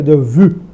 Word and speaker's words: déjà vu: vu, como se escreve, a pronúncia francesa seria de vu, né? Um i meio u, né?